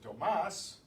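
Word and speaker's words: Tomás: But if, in the case of Tomas, the stress is on the last syllable, so we have to write an accent to show that.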